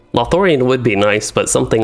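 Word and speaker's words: Lothlórien: myself in something like lothorion or not lothorano lothorian would be nice but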